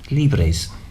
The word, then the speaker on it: libres: So when you arrive, you can say, tiene camas, which is beds, libres. Don't forget, pronounce all the letters and roll the R's.